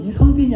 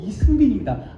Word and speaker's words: 이승빈: 사감님, 제 이름은 이성빈이 아니고 이승빈입니다.